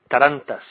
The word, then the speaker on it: Tarantas: Because, you know, I am blonde here, but is it Tarantas? Tarantas? You're doing great. Tarantas.